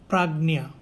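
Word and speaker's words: प्राज्ञ: And in South India, the Gya is pronounced as Nya. So it is Prajna.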